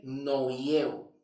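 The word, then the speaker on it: νοέω: Noieo, que más bien es el complemento de meta. Meta y la otra parte, el otro complemento, que es noieo, que aquí se pronuncia así, del griego, ¿ok?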